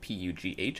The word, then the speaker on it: Pugh: I think her last name it's spelled P-U-G-H. I think it's Florence Pugh.